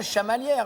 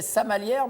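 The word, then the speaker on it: Chamalières: Comme on dit bien Chamalière parce que pendant des années, je pensais que c'était Samalière mais que c'était mal prononcé. Non, c'est Chavalière.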